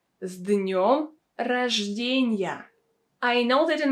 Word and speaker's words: С днем: As you can see, the consonant S in this situation is pronounced as Z.